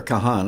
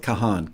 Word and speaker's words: Kahan: stick season with Noah I'm not sure if he pronounces it Con or Kahan I'm going with Kahan k-a-h-a-n uh the worst